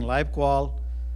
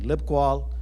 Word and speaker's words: LibQUAL: lifequal by the way I keep saying live quall Bruce keeps saying lip qual so you can choose whichever pronunciation you choose uh but I think in the October meeting over a year ago we kind of uh had a poll as to whether it should be live qual or or lip qual